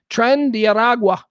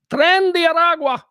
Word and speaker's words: Tren de Aragua: Tren de Aragua. Tren de Aragua.